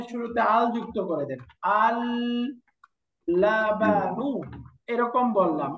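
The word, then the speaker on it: اللبن: আমি লামটা উচ্চারণ করলাম অথবা লামটা উচ্চারণ করলাম না। না করে আমি প্রথম লামের মধ্যে তাসদিদ দিয়ে এরকম বললাম। আললাবানু। তাহলে দুইটার উচ্চারণের মধ্যে কোন তফাত আছে? না। দেখেন আমি তাসদিদ দিলাম অথবা এটাকে সুকুন করে পড়লাম। দুইটার মধ্যে কোন তফাত আছে উচ্চারণে? উচ্চারণ একই হচ্ছে নাযে উচ্চারণে এক তাসদিয়ে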